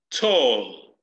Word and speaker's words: tall: Pero en el momento que yo pongo ya esto, entonces debe leerse tall. Mire, se lo voy a hacer lento. Tall. Tall. Tall. Entonces debe, el sonido de la T debe permanecer ahí.